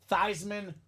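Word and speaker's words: Theismann: gets the idea of let's change your last name so we can say thyman for the Heisman now Joe's a sellout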